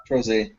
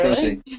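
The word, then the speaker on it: Trozei: Troze. Oh, really? Troze. Yeah, you've been pronouncing it wrong all this time.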